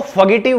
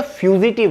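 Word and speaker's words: fugitive: next है फ्यूजिटिव, काफी सारे लोग इसको फगेटिव बोलते हैं, लेकिन ये फ्यूजिटिव है, फ्यूजी टिव इसकी प्रोनाउंस होगी, जिसका एग्जैक्ट हिंदी मीनिंग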